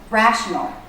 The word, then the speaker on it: rational: So, rational. Ra. Ra. The stressed syllable. Notice how the voice goes up and down in pitch. Ra. That's the shape of a stressed syllable.